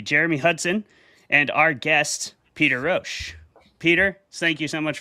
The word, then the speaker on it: Peter Rosch: Our debaters tonight are going to be Jeremy Hudson and our guest, Peter Rosch. Peter, thank you so much for coming on the show, man. I am pronouncing your name correctly, I hope.